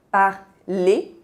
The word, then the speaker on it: parler: De novo, temos o EZ, que tem esse som E fechado, parler.